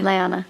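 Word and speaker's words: Lyana: Liana. So that's how you pronounce it.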